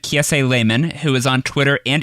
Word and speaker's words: Laymon: I asked you for someone who makes the internet a better place, and you said Kiese Lehman, who is on Twitter and Instagram at Kiese Lehman. Kiese is spelled Kiese.